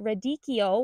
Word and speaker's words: radicchio: This is the radicchio, which I believe is how it's properly pronounced.